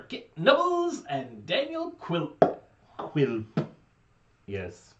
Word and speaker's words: Quilp: Quilp. Yes. Rhymes with quilt.